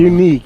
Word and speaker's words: Yuneec: Unique or something. Unique. That's what it is.